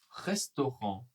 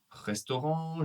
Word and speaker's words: restaurant: Alors le premier, c'est le nouveau restaurant japonais. Attention à la prononciation hein. Le T de restaurant est silencieux.